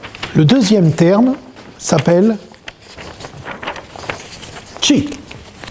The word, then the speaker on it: Qi: Vous voyez, la manière dont ça se prononce n'est pas anodine. Chi. Je ne tiens pas compte des tons, je ne connais pas bien. Chi. Voilà, c'est-à-dire déjà le ch.